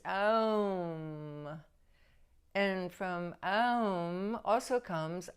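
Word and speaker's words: ॐ: ancient mantra um which many pronounce as om but the sanskrit pronunciation is um and from um also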